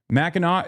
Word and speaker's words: Mackinac: Mackinac is how it's pronounced.